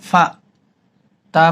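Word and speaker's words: فَأْتُوا: হচ্ছে ফা হামজা জবর ফা তা পেশ তু ফা তা মিলবে ওয়ার সাথে তাও এক আলিফাতু এটা একটু ধাক্কা দিয়ে হামজাটা উচ্চারণ করে বলতে হবে ফাতু আলা আবদিনা ফাতু পরেন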